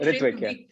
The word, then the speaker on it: Ritvik: I'm pronouncing it Ritvik. Yeah. So. No, it's right, Ritvik.